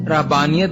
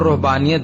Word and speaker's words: رہبانیت: خدمت کرتے تھے۔ رہبانیت، اس کا تلفظ رہبانیت بھی کیا جاتا ہے اور رہبانیت بھی۔ اس کا مادہ رہب